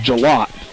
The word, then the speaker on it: Gillett: And I believe it's pronounced Jalot.